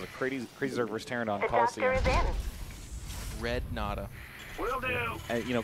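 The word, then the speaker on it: Colosseum: Your allies being That's crazy too, because it's just pronounced Coliseum.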